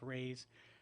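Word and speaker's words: Rui's: It's R-U-I''S, but it's pronounced Ray's Shanghai Bistro, and it's in Redlands, right near DMV on Lagonia.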